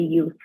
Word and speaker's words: youth: For example, like you said youth, you said yaut. It's supposed to be youth.